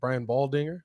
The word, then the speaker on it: Baldinger: The one I got is I think Brian Baldinger, that's how you say his name, said this on the Pat McAfee show.